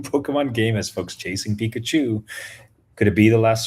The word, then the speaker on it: Pikachu: Now Pikachu rhymes with two.